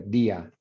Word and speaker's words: día: Yeah, it is true, 2 syllables, because that's accented right there, día, because that's no longer a diphthong.